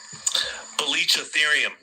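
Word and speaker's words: Baluchitherium: Belitchatherium. I'm going to play it one more time. Belitchatherium.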